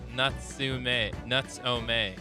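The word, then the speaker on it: Natsume: She's teaching you how to pronounce his name. Nuts-o-may.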